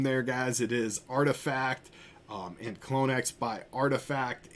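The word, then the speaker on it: RTFKT: to say the name there guys it is artifact um and clonex by artifact and let me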